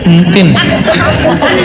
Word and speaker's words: Entin: Entin, bacanya gini ya. Entin.